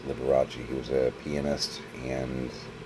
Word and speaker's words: Liberace: It's spelled like Liberace. It's Liberace.